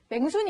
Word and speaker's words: 명순: 경상도 사람이다 보니까 명순이를 맹순이 이렇게 발음을 하는 거예요.